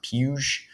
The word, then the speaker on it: Puig: on the broadcast and I'm pretty sure it's pronounced puge I think I think I did that right David puge um so anyway he was really good in